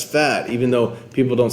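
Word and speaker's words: Phat: his his name but it's spelled p-h-a-t so like cool that's fat even though people don't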